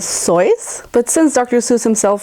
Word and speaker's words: Seuss: and did you know his name is actually not supposed to be pronounced Seuss but instead soy but since Dr Seuss